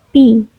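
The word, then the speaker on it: π: ditulis berdiameter disebut dengan ping nah ini simbolnya seperti Iya ini merupakan sebuah huruf Yunani dibacanya Pi bilangan phi merupakan bilangan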